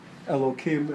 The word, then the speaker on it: Elohim: they will quite easily say Elohim as pronounced with the hey as it should be so teacher could